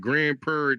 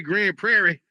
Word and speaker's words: Grand Prairie: Grand Prair, you got to say it like that. You got to say Grand Prairie. See, that's how they know if you're a local. If you if you just say Grand Prairie like a regular person, they be like,